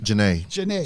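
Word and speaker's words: Jhené: The album features Chance the Rapper, Problem, uh, Aelia Banks, and Gene Aiko. Is that how you pronounce her name? Jana. Jana.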